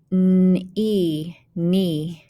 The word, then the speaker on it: knee: out first line is silent k words so we don't hear the k remember it's silent so it's just new